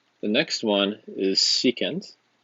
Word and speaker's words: secant: The next one is secant, and you write SEC. That is the reciprocal of cosine, and that is pronounced secant.